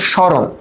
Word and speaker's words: স্মরণ: Fast of অল মফলা যদি আদিতে থাকে মফালার উচ্চারণটা হয় না। কিন্তু মফলা যার উপরে আশ্রয় করে তাকে নাসিক্য করে দেয়। তাই না? তাহলে নাসিক্য মানে কি বলতো? স্মরণ।